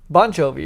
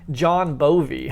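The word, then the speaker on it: Bon Jovi: have a John wait I always say it wrong John bonjovi bonjovi bonji bonjovi is right bonjovi she kept calling him John bie John bie yeah they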